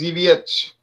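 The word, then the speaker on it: Zawiercie: Okay, well, when it was owned by Germany, it was Zabusch, but the Polish pronunciation is Zawiecz. All right, you got that, James? All right. Zawiecz.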